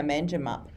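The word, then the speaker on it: Manjimup: How do you say that? Man, mangap. Mangap. Yeah. Mangimup.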